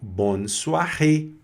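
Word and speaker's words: bonsoir: Com acento agudo no e fecha o o a pronúncia. Então bonsoar, né?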